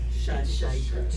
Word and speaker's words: Scheidegger: Scheidegger. 2 syllables.